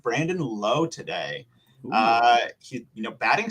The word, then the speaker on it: Lowe: Brandon La that's right it's Lao and it's Josh Lowel low the brothers of the